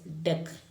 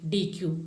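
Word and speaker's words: dequeue: from the front end queue, so that is deck. Actually, what is that? Delete an element from the queue, so the process is called deck. Okay, DQ or deck.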